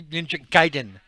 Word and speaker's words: Ninja Gaiden: The correct pronunciation would be Ninja Gaiden.